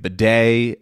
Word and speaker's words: bidet: But you wouldn't know by listening to it because it's at the end.